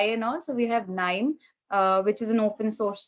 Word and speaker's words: KNIME: Yeah, there is an open source tool called KNIME. It's spelled as KNIME, KNIME. So that's an open source. K9.